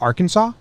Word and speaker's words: Arkansas: are you guys doing you put a and R in front of Kansas but it's pronounced Arkansas it's a tough language